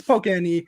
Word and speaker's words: PokeNE: It's PokeNE. That's how it's spelled.